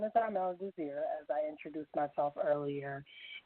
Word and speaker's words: Desir: Renee, it's Armelle Desir. The last name is like Desire. It's French. Actually, in French it does mean desire, but just the E is silent, so it's Desir.